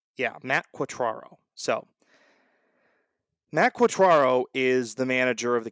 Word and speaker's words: Quatraro: if I don't end up getting all right quatraro yeah Matt quatraro so Matt quatraro is the manager of the Kansas City Royals